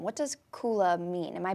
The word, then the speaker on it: kula: unique name what does kula mean am i pronouncing that correctly Oh Kayla kula is a Sanskrit word so language of the yoga and we have that